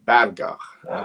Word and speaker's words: Berger: It's They Call Him Cemetery with Gianni Garco and William Berger, or Berger, as the Germans would pronounce it.